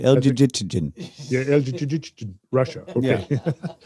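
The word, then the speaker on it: Elgygytgyn: I've never really known how to pronounce El-Jijit. How would you say this, Kyle? Yeah, I think you had it right. El-Jijitjin.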